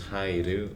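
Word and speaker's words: 入る: Or haidu. Pronounced hai, but you always... to enter is haidu, but the kanji itself is pronounced hai.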